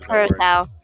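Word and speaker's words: Curaçao: Curacao. Curacao. I can't remember Nope. how it's pronounced. Not cure, just curacao.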